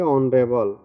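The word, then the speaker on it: honourable: एन ऑनरेबल, इसमें भी वही है, एच साइलेंट हो गया और इसको पढ़ेंगे ऑनरेबल।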